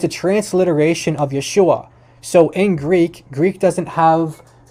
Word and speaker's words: Yeshua: It's a transliteration of Yeshua. So in Greek doesn't have native letters to maintain the exact pronunciation. So there's no sh sound in Greek.